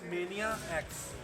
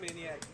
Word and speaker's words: Mania X: It is actually Mania X. Mania X, like a capital X, like this. Yeah. Oh, okay. I see. Mania X. People say it like Maniac. It's because it's so clever, so witty.